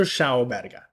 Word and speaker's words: Schauberger: So there's this guy called Victor Schauenberger. Okay, let me make sure to get Victor. Yeah, perfect. Good. Making sure I pronounce his name properly. So Victor Schauberger.